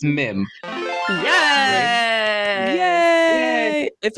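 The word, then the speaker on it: Mîm: How do you pronounce his name? I've heard both. Meme. So it's Mim.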